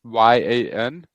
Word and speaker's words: Brryan: It's Brryan. If you can pronounce it Brryan, that would be great.